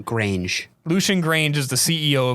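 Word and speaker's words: Grainge: Because Lucian, how do you pronounce that last name? Grange.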